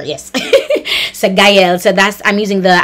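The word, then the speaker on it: Guyle: That's how you pronounce it, Guile. G-U-Y, like guy, like hey, you guy. And L, as in L, E, the letter, yes. So Guile.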